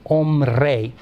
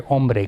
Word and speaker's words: hombre: R, and that's where hombre comes. And the H is not pronounced, but it's the etymological H from Latin, homines.